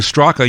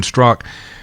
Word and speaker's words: Straka: I've been calling you Straka. You've been saying Strzok. Do I not pronounce the A? Yeah, there's a silent A at the end of my name.